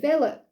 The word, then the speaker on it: Wille: you could say it's Alan will you know what she pronounced it Villa so this is by